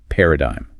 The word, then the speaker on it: paradigm: Paradigm. Paradigm. First of all, the spelling of this word versus the pronunciation is just a nightmare.